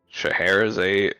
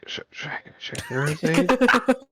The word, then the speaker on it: Scheherazade: Scheherazade. Ah, yeah. See, I was. It's the ADE at the end of it that gets me.